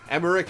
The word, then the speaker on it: Emmerich: chaff and i'm dead emmerich is pronounced with the heart c oh that is otakon